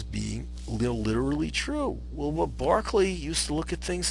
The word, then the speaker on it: Berkeley: Doctrine was George Barkley it's pronounced Barkley like the basketball player not Berkeley although Berkeley California is